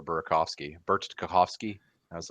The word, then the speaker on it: Burakovsky: believe the other night he said Bert Tarkovsky for Burakovsky.